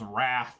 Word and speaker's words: wrath: silent w it's really a lot of people miss that one uh so anyways guys